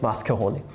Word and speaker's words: Mascheroni: EUler Mascheroni Constant. Mascheroni Constant. Right. Not Mascheroni, not macaroni, Mascheroni. This time I pronounced it correctly.